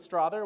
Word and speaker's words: Strother: so my name is strather which rhymes with father it's hungarian it means